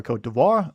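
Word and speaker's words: Côte d'Ivoire: against the Ivory Coast, or Cote d'Ivoire, if you want to go with, I think, the more native/French pronunciation.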